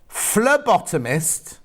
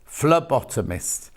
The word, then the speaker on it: phlebotomist: that's lovely isn't it it's pronounced as an f phlebotomist hang on flair bottom mist thank you jill oh yes ph not p phlebotomist um well that never